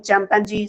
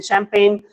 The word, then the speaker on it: champagne: Some students are speaking champangi. Some students are speaking champagne. Some students are speaking champagne. Some students are speaking chimpanzeee.